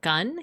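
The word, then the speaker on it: kan: It's pronounced gun.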